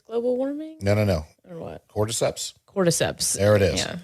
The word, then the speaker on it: Cordyceps: Cordyceps. Cordyceps. There it is. Yeah. I did not want to say quadriceps again. Cordyceps.